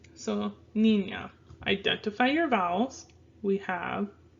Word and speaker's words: niña: So, niña. Identify your vowels. We have I and an A, right? So, when possible, we like to have syllables end with a vowel. So, we have here ni, nya. Niña.